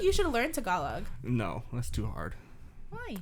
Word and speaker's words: Tagalog: that's too hard why how do you pronounce it tagalog huh you're like tagalog how'd you know that's nice i thought about what's the dumbest way i could pronounce this word i actually used to say i used to tell them too like i don't know how to pronounce it so i'm just gonna say do you speak tagalong tag along and they look at